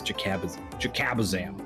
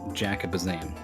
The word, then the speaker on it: Jakazam: I imagine that I pronounced that word horribly wrong. Adjacazaba, Jakabazam. Cabazam. The double B wants ABBA to appear in the middle. Jakabazam. Yeah, I think you got it.